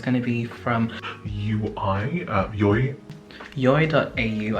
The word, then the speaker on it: Yoi: So it's going to be from Yoi.au, I believe that's how you pronounce the brand.